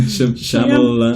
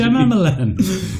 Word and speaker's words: Shyamalan: That's not how you pronounce his name. M. Night Shyamalan. Shyamalan. That's not how you pronounce it. Shyamalan.